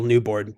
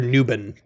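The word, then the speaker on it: Newbon: I think I want Neil newor to or nuben I've been saying it wrong this whole time Neil nuben I think I'm going to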